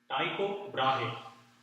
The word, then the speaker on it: Tycho Brahe: Tycho Brahe.